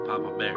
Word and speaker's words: Papa Bear: So you say it like one name. Papa Bear.